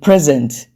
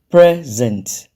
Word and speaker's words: present: like I said before as a noun the stress is on the first syllable present a gift then as